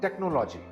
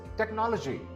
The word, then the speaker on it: technology: This word is not technology. It is technology. Again, the second syllable is stressed.